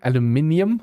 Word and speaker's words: aluminium: From where I'm from, aluminium. From America, and that aluminum.